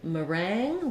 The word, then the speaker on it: meringue: is not very helpful in meringue we have second syllable stress and it's just like the word rang like I rang the bell and then because the